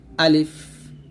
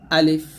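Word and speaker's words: ألف: সমস্যা হয় সেটা হচ্ছে আমরা আলিফ উচ্চারণ করতে গেলে টান দেই তো টান দেওয়া যাবে না এখানে তাড়াতাড়ি পড়তে হবে আলিফ আলিফ এরকম তারপর হরফ হচ্ছে বা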